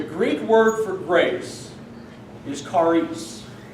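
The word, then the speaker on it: χάρις: So, the Greek word for grace is charis, not claris, like the scary... Charis. It is spelled C-H-A-R-I-S.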